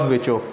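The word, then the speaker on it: Virchow: Rudolf विचो, लिखते विर्चो हैं, pronounce विचो करते हैं।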